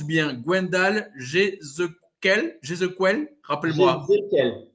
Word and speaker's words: Jézéquel: Est-ce que je prononce bien Gwendal Jézéquel, rappelle-moi. Jézéquel.